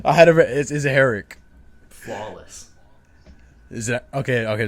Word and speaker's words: Herrick: want to butcher your last name like you butchered mine please try go ahead I had a is it heric Flawless is it okay okay just making sure